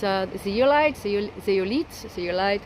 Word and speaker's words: zeolite: aoll before and it's uh the yite zolit zeolite how you say it z e o l